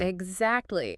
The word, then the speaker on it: exactly: In slow, careful speech, you hear the T.